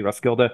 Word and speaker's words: Roskilde: Am I pronouncing this correctly? Roskilde?